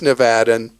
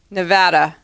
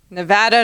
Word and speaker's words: Nevada: Sincerely, every born and raised Nevadan, Leah. Got it. You want to try it now? Nevada. Nevada, not Nevada. Everybody in America, every news reporter ever reporting anything from Nevada says Nevada around the country.